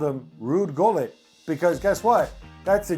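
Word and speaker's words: Gullit: We're not Dutch and we pronounce the G as Gullet. When he comes to England everybody's like oh look it's Rude Hol. I'm like where's the H?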